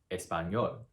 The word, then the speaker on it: español: And for words that end with a consonant, the stress goes on the very last syllable. Organizar, or español. Voy a aprender español.